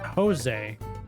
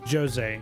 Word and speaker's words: Jose: back second of all that is Jose it is not Jose they pronounce the J it is Jose and he is a